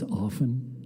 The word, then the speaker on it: often: Often the tea is silent and often. It's often.